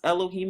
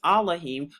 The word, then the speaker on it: Elohim: And it says, and Yahuwah Elohim, another way to pronounce Elohim is Elohim, formed man of the